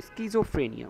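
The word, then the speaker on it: schizophrenia: four set তো সিজোফ্রেনিয়া সেটা একটু খেয়াল করো স্কিজোফ্রেনিয়া উচ্চারণটা হবে স্কিজোফ্রেনিয়া স্কিজোফ্রেনিয়া এস স্কিজোফ্রেনিয়া এই যে সি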